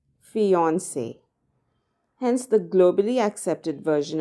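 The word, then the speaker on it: fiancée: a woman who's engaged the pronunciation however remains exactly the same fiancee hence the globally accepted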